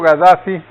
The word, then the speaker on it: Gaddafi: que acusaban era a Gaddafi. Yo digo Gaddafi porque al oír la pronunciación de los árabes, ojo, es como G. Ajá. Y los franceses le ponen una K con una H.